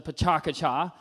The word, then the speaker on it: PechaKucha: of lends itself to the pitaka cha which I've now told is how you say that format right so it sort